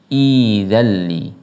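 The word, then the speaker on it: ائذن لي: Tetapi ketika dipisah maka cara bacanya idzalli, idzalli, karena ada aslinya idzalli. Ada dua hamzah, hamzah yang kedua sukun, maka hamzah kedua yang sukun ini diganti dengan ya, karena hamzah yang pertama harokatnya kasroh.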